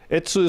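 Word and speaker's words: 越: and heading for ETSU ETSU is the Japanese pronunciation of this Chinese character and I think that's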